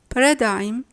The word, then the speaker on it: paradigm: We say diaphragm, paradigm, flam, assign, campaign, consign, design, foreign, rain, sign, nash, no, and gnome.